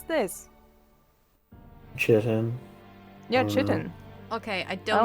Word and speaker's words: chitin: How the fuck do you pronounce this? Chitin.